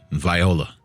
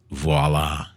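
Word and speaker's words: voilà: their Alibi rinse repeat Viola you figure it out I think that's pronounced voila voila you figure it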